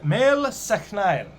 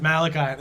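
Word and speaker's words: Máel Sechnaill: down the line um a fellow named mel seknile this is malachi this is they have a statue of him and it says malachi that's not his name m a e l space s-e-c-h-n-a-i-l-l uh he's from the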